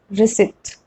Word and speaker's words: receipt: the combination PT and still P is silent. And which is that word? It's receipt. Generally, P and T combination, we pronounce P and T both, like in the case of adopt, adapt, prompt, but receipt is an exception.